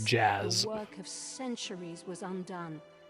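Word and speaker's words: Jas: Hard for me to accept that that's pronounced like Jazz.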